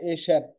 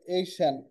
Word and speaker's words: AICEAN: উচ্চারণটা কিছুটা এশান, এই এইশান, এইশান বা এইশান এরকম একটা উচ্চারণ। তো সহজে বোঝার জন্য অনেকে এশিয়ানও বলে।